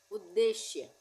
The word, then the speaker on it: उद्देश्य: के ऊ परर सूर्या उद्देश्य य पर हम क्या बोल रहे हैं उद्देश्य उद्देश्य नहीं बोल रहे इसलिए आधा द का उच्चारण आ रहा है पहले उसके बाद फिर